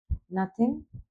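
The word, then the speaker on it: knee: কিন্তু হবে না খে এর পরে যদি এন থাকে তাহলে খের উচ্চারণটা সাইলেন্ট থাকে নি মিন্স হাটু ঠো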